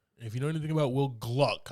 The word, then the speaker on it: Will Gluck: you know anything about Will Gluck I say that I gotta say it like that because his name gets messed up a lot okay this guy gave